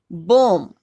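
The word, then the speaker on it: balm: बॉम, ये B silent रहेगा, बॉम, ये ओ की आवाज के साथ, बॉम।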